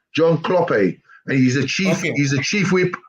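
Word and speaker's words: Hlophe: h l o p he e but you pronounce it kloppe but it's h l o p he e John kloppe and he's a chief he's the chief whip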